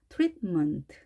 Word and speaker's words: treatment: 트릿 하고 혀끝이 치경에 닿은 상태에서 다음에 바로 먼트 이어주시면 되겠습니다. 트리트먼트 이렇게요.